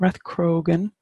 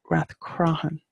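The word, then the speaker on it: Rathcroghan: cheese in there okay it's not rough Croghan it's rap crime and the GH is soft and same way the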